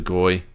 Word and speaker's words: Goey: They relied a lot from De Goey with 25 touches. Houston off half back. Huh? Is that how you normally say it? De Goey?